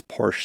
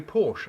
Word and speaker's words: Porsche: In German, we say Porsche. In English-speaking countries, you simply do not have that sound. You don't have that sound. The E is silent, and you say Porsche.